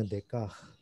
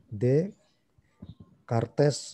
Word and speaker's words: Descartes: kamus bacanya kamu ya karena orang Prancis itu biasanya tidak mengucapkannya akhiran huruf paling akhir ya kecuali beberapa huruf itu yang dibaca gitu ya kayak kamu situ banyak kamu katanya Descartes itu bacanya DK the credits itu ST juga dibaca jadi D cartes sedekah lihat SD enggak dibaca tes nah disini eksistensialisme Qodir